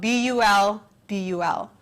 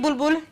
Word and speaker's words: Bulbul: That is spelled B-U-L-B-U-L, Bulbul.